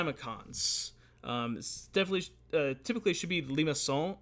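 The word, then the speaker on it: limaçon: definitely typically should be Lima Seoul I think is how it would be pronounced in French but in the United States we just more colloquially called a Lima con and again they form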